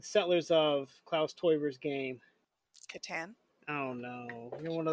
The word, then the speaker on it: Catan: But I feel like if I had been in Massachusetts at the time, I would have pronounced it Catan, because that's like you think aunt versus aunt.